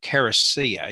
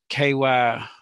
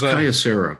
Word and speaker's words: Kyocera: I'm not pronouncing this right, but a Caracia. You know the company I'm talking about. You've probably seen it. It's Kyocera, I think. Oh, yeah. Yeah. Yeah. It's like moleskin. I didn't pronounce it near right. I know. I think it's Kyocera, but yeah.